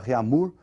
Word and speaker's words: Réaumur: outra escala francesa aí, que é a escala Réaumur, que nós vamos pronunciar Réaumur, né, que é aportuguesado de novo, né, e essa escala